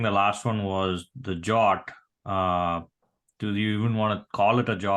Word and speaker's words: JWT: I have I'm not I wasn't familiar with way you pronounce it jot okay JWT okay got